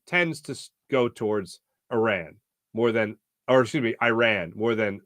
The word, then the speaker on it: Iran: be clear on this it's Iran not Iran and um the player